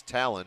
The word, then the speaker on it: Talon: Fans coming in clutch once again, telling me that that's Talon rhymes with Allen.